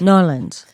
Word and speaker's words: New Orleans: Nawlins, like that. Nolans. That's how they say it.